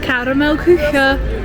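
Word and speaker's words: Karamell-Küche: Caramel Kuchen, which is how you say it.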